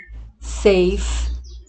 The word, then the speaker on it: safe: Só que nós não pronunciamos a vogal final, né? Então aqui é nice, safe, large. Então todas essas palavrinhas aqui, apesar de terem duas vogais, como a gente não pronuncia o E final, então elas são consideradas